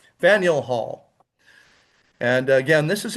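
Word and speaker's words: Faneuil: A lot of people pronounce it fine. That would be quite understandable. But the actual pronunciation is Faniel. Faniel Hall and again this is in Boston uh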